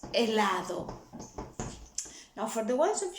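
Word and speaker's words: helado: stressing that vowel fabricas remember the rule the h is not pronounced at the beginning of a war so that's not hella is elado now for the ones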